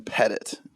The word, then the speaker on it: Pettet: say your last name is it French it's I could act like it is it's not Zack Anderson pet it pet it pet it pet it yeah I have French family